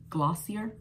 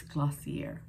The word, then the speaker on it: Glossier: if you pronounce it i wonder if it was supposed to be glossy and then they just added the ier so am i supposed to say glossier no it's glossier all right guys the